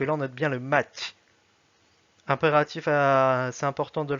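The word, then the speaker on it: мать: Par exemple, dans le mot russe mat, comme ceci, mat qui veut dire mère, on voit bien que la dernière syllabe est mouillée. Juste ici avec ce son, ça donne mat. S'il n'y avait pas le son match, s'il n'y avait pas le petit signe mou, ça donnerait mat.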